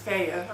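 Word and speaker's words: Fage: growth hormone in it I also like um FAA yogurt it's f a g but it's pronounced FAA according to the package and I love this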